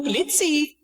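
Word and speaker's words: Blitzø: Hi there, I'm Blitz. The O is silent.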